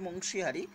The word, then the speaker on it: বংশীহারি: ঠিকানায় লিখতে হবে দ্য চেয়ারম্যান বুনিয়াদপুর মিউনিসিপ্যালিটি, তারপরে পোস্ট বুনিয়াদপুর, পিএস বংশীহারি, উচ্চারণটা হবে বংশীহারি, এখানে ডিস্ট্রিক্ট দক্ষিণ দিনাজপুর